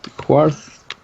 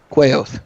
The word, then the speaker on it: Quaoth: Quarth. Quaoth. Quaoth, yeah. That's the one.